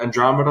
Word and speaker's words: Andromeda: The song Universal by Andromeda or Andromeda. I'm not sure how to pronounce that. It's Andromida.